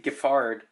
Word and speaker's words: Giffard: See, I pronounce it as Giffard, but it's supposed to be Giffard.